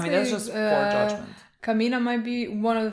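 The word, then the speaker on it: Camina: think I would say her name is not Camilla first you need to know somebody's name so you Kamina you can follow them I don't know why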